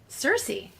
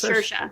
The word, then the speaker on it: Saoirse: to- Cersei. Oh, but I No, was close. it's Saoirse.